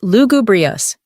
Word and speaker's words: lugubrious: Here's a more somber word, lugubrious, pronounced lugubrious.